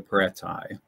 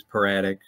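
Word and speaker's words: Peratai: Technically, formally, the way this works in Greek is they're the paratai. But the adjective is paratic.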